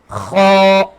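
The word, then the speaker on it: خ: Next is kha. Kha. Kha. And also the kha is halqi letter, so the kha we pronounce from top part of the throat, like kha.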